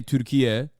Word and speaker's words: Türkiye: the Turkish state broadcaster trying to say Türkiye, which is like the new naming convention for Turkey, which is like the actual is how you say Turkish Turkey in Turkish.